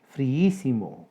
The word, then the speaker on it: friísimo: Friísimo, 4 sílabas. Hiato entre dos vocales iguales, la I. Sucede que la sílaba tónica es la antepenúltima. Esdrújula con tilde.